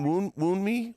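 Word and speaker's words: Wunmi: Yes, How do you, is it wound me? How do you pronounce? wound, like a wound and wound knee.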